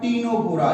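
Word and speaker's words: Ctenophora: तीनों से क्या बनेगा आपका, टीनोफोरा। यहां पे सी साइलेंट है दोनों में।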